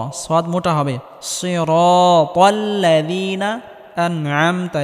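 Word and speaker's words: أَنْعَمْتَ: সিরাতাল্লাযীনা আনআমতা, এখানে আইন গলার মধ্যে হালকা চাপ দিয়ে উচ্চারণ করতে হবে।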